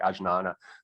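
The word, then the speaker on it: ajñāna: researched perennial skepticism and i found agnana and it's spelled with a j so it's almost like ajnana but anyway so i'm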